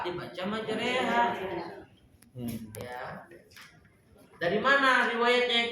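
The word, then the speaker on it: مجراها: Kalau ditanya ini kenapa dibacanya majreha, di tempat lain ro nggak dibaca re, riwayat yang saya dapat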